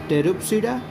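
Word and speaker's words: Pteropsida: अच्छा, इस दोनों में देखिए टेरिडोफाइटा में टेरिडोप्सिडा में हम लोग P साइलेंट रखे हैं। सिलोप्सिडा में भी पढ़ने के टाइम में P हम लोग इस्तेमाल नहीं करते हैं, ऐसा तो नहीं पढ़ते हैं सिलोप्सिडा ही पढ़ते हैं, इसलिए साइलेंट रहता है।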